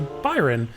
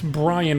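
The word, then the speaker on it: Bryon: He spells it B-R-Y-O-N, so the first time I looked at it, I was like, oh, this guy's name is Byron. But no, it's Brian with an O-N. Totally different way to spell it.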